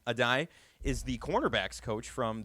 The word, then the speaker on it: Addae: Addae. Addae is the cornerback's coach from the University of Miami.